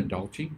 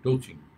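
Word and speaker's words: douching: দেওয়া, DOUCH আছে, ডাউচিং, কেউ কেউ বলে ডাউচিং, হ্যাঁ, ডাউচিং, কেউ বলে ডোচিং, আচ্ছা ডাউচিংটাই ভালো উচ্চারণ, ডাউচিং করা নজরটাকে।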